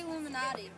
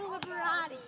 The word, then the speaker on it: Liberati: It's Illuminati. Illuminati. Yeah. Don't say that. Why? It's Liberati.